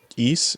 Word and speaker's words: Ys: Yeah, but like when I was looking up Victor Musical Industries, it looked like they did music for East.